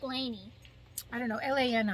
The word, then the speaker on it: Lani: i think little blessings it sounds like laney i don't know l.a and i i don't know but laney you know like as